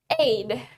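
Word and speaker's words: aide: And then the next one, we have aid. Aid. Aid. Aid itu adalah ajudan. Aid. Tulisannya A-I-D-E, tapi dibacanya aid.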